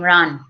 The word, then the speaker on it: Ran: as well that and somebody told me that you pronounce your name Ron so maybe I've been